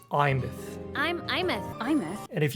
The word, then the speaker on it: Aemeath: Oh, by the way, if you're having trouble pronouncing her name, it's just Imeth.